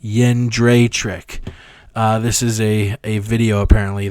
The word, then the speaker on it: Jędrzejczyk: Apparently it's Joanna Jędrzejczyk. So like a Japanese yen, Dre, like Dr. Dre, and then like trick, like trick or treat, Jędrzejczyk.